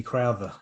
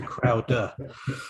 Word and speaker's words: Crowder: A lot of people think it's Leslie Crowther, I suppose, Exactly. as opposed to Crowder.